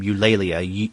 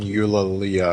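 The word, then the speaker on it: Elalia: name is ulia I guess that's how you pronounce her name ulia e l a l i a that's better than what I had I had I think I was thinking Ula Leia or something like that so I like your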